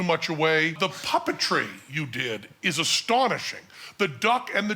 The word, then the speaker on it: Dedi: It's Dedi or Didi? D-E-D-I? Didi, yeah. Didi, is that the way it's pronounced? Yeah.